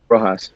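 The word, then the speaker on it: Rojas: Roass.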